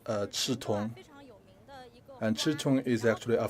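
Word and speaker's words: 刺桐: Quanzhou is also known as the Chitong. And that's how it's pronounced in the Fujian dialect.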